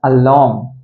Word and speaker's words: alarm: Okay, this word has to be pronounced as alarm. Alarm, r வந்து silent.